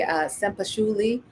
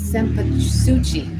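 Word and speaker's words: cempasúchil: Oh, the one other thing I wanted to mention are the sempashuli, or is that how you pronounce it? Sempasuchi. Sorry, my bad.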